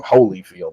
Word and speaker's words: Holyfield: I call him Holyfield, like holy.